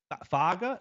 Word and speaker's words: Foga: edric Hill Jeremiah Beaman I'd say foga not figga foga is what I've been coached on uh London Simmons and